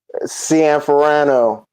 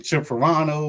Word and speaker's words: Cianferano: Can Ferrarano. There you go. I've been saying Cherano, all type of stuff.